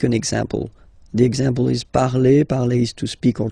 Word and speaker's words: parle: pronounce it is je parle, parle. So remember, we put it, okay, but then we don't really pronounce it.